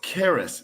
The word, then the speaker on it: Caerus: is it Sarah strength so it's Caris so it's Zeus's youngest son the Greek god of opportunity and Fortune and timings so Caris strength Caris